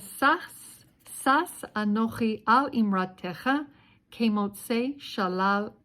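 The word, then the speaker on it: שָׂשׂ: So this is Sas Anochi with a Samech, not Samech, a Sin, like a Shin, but pronounced Sa.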